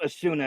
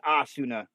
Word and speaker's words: Asuna: Okay, so it's not pronounced Asuna, it's Asuna.